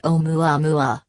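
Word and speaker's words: ʻOumuamua: but in other respects o mu a mu a-- pronounced Oh mwah mwah appears to resemble objects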